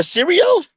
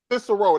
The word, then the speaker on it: Cicero: Wait, It was technically it was a Syrio? I can't pronounce it the right way. Cicero.